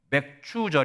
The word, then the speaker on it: 맥추절: 말씀드렸지요 그래서 맥추절 있니다 여러분 발음 잘하셔야 돼요 맥추절 이니다 어떤 분들은 맥 예 그렇게 얘기하던데 발음 잘하십시오 예 이러 맥추절을 지키면서